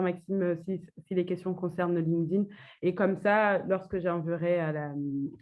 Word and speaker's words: LinkedIn: Comment on prononce LinkedIn? Donc, en effet, j'avais déjà fait quelques posts là-dessus. Donc, on ne dit pas LinkedIn à la française, mais on dit en effet LinkedIn.